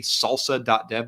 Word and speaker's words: SLSA: If you want to know what software supply chain security, or S3C, is, some good places to start would be salsa.dev. That's spelled SLSA.dev. I'll put it in chat here.